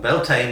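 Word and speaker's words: Bealtaine: it sounds so saen is one of them belan is another belane is around the time of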